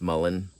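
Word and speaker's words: mullein: should say Maline or Meine um but it's pronounced Mullen but you dry those leaves and um I just buy mine already dry but Mullen is everywhere uh but anyway that's what I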